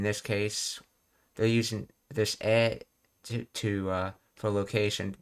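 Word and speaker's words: へ: in the direction of something, you you use e for that instead of knee. And notice how I'm pronouncing it as Even though it's the letter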